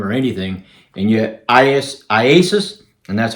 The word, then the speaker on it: IASUS: video for that iasis that's how you pronounce the name i a s iasis Mike called me just